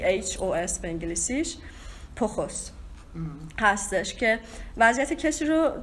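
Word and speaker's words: πτωχός: استفاده میکنه، فقیر در روح، یونانیش اگه من تلفظ درست بکنم پخوس هستش، پی ت او س ه او اس، پی تی او سی اچ او اس به انگلیسیش، پخس هستش که وضعیت کسی رو توصیف میکنه که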